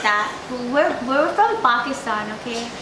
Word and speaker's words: Pakistan: We're from Pakistan, okay? You can't say it like Pakistan. The Angrez way. You have to say it the proper way.